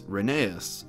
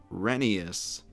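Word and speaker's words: Rheneas: the correct pronunciation is renius kinda like Phineas as said by all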